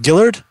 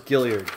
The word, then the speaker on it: Gilliard: you know lawrence gillard is it pronounced dillard i thought it was gilliard gilliard yeah i think you're right because there's another eye after the elves yeah gilliard jr who